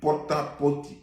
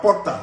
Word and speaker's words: Porta Potty: J'ai dit pota-poti. J'ai même dit pota. D'ailleurs, c'est pota. C'est même pas porta. C'est pota-poti.